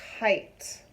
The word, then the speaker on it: kite: So instead of saying K, it, now we are saying K, I, t. So this is the word kite, okay?